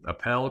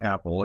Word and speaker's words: Appel: Our special guest is it Appel, Appel? It's Apple. It's just like the fruit. It's spelled Appel, but okay.